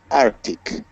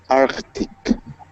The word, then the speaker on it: Arctic: Marcio okay don't say Arctic do say Arctic come on and hard to see but it's there but it's there yep